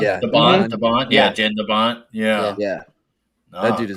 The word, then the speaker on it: Jan de Bont: Like Jan de Bont, is that how it's pronounced? Yeah, de Bont. Yeah, Jan de Bont.